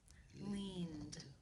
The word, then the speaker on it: leaned: And In the infinitive, the final sound is the d sound.